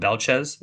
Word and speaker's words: Belchetz: So as far as I know, the T is silent right now. So Mhm. Belchez is what I've been given.